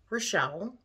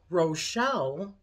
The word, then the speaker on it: Rochelle: and then there is Rochelle which is French that's r-o-c-h-e-l-l-e but that sounds more like how you say my name but it's a run instead of a row but um and that